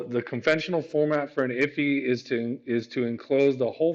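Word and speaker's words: IIFE: Immediately invoked function, pronounced IFI, is a JavaScript design pattern often used to minimize naming conflict and create private variables. Okay. So the conventional format for an IFI is to enclose the whole function within the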